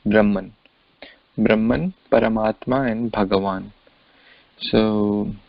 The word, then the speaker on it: Brahman: This word is pronounced as Brahman.